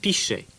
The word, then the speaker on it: pichet: Un pichet sounds a bit like pitcher, and it's spelled P-I-C-H-E-T. Pichet.